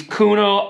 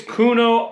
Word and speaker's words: Khuno: you guys about these kuno optics goggles i hope i'm saying that right i am not 100 sure but i think it's kuno optics i believe is how it's pronounced it's k-h-u-n-o i'm so stoked on